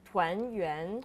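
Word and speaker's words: 团: that's because Tangen uh is a homophone for reunion in Chinese which called twen oh can you try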